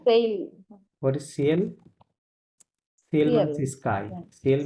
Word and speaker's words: ciel: Low, sell what is সিএল? সিএল মানে সিএল স্কাই, সিএল means sky স্কাই, হ্যাঁ, ওকে বলে সিএল, এখানে এলটা সহ উচ্চারণ হবে, লো সিএল, ম্যাসকুলিন ওয়ার্ড।